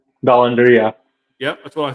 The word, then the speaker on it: Dollander: And how you say it, Dollander? Dollander.